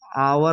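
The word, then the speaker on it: hour: लिखेंगे तो ऐसे लिखेंगे यहां पर हमारा एच से शुरुआत हो रहा है लेकिन इसका उच्चारण जो है आपका आवर होता है फिर यहां पर यूनिवर्सिटी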